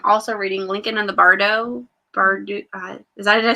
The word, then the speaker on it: bardo: ireland and i'm also reading lincoln and the bardo bird is that did i say it right yeah bardo okay as soon as those finish i'm reading